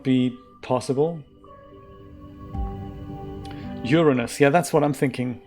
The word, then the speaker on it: Uranus: Uranus, yeah, that's what I'm thinking. I'm thinking with the pronunciation on the first syllable, right, Rod?